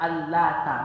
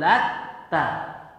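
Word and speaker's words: اللات: Al-lata maksudnya tidak ditasydid. Al-lata, ta-nya enggak ditasydid. Quri'a bi takhfifi ta'i, dibaca dengan meringankan huruf ta-nya. Wa quri'a kemudian juga dibaca bi tasydidha. Nah, ada dua cara bacanya Pak ya dalam qiraat itu ya. Bisa dibaca dengan tidak ditasydidkan ta-nya al-lata, bisa juga dibaca dengan afara'aitumul latta. Latta ya ditasydidkan ta-nya. Kemudian kalau dibaca dengan bacaan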